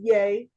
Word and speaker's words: Ye: but it does because his name is yay Yi Yi anyway that